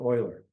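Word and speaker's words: Euler: His name was Leonard Oiler. I'm using the German pronunciation of his name. He was uh born in Switzerland in the German speakaking regions of Switzerland.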